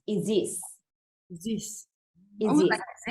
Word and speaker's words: Isis: know how people say Goddess Isis yes not pronounced Isis oh it is pronounced is this this is what I said is this so